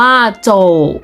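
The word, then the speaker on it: zǒu: ชาย และ น้อง ชาย z o u อ่าน ว่า โจทย์ แปล ว่า เดิน มอง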